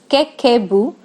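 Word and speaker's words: 家計簿: pronounced as Kekebu, translates as Household Financial Ledger.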